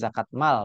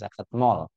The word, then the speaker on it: zakat mal: ini zakat mal ya bacanya zakat mal bukan zakat mall ya Nah ini kita